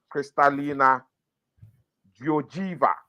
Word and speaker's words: Kristalina Georgieva: Kristalina Nidino no Kristalina Georgieva. I believe I pronounced it right because it's Eastern European.